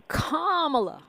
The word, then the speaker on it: Kamala: the house in the Senate and of course camela Harris for president okay I'mma bust you out to comma rhymes with mamala K but look um n because